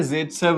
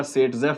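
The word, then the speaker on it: Zaitsev: हम फॉलो करते हैं ज़ेटसेव रूल। अब ज़ेटसेव बोलो या सेटजेफ बोलो, एक ही बात है। ज़ेटसेव सेटजेफ एक ही बात है, रशियन नाम है, उसकी ट्रांसलेशन में दोनों स्पेलिंग सही है।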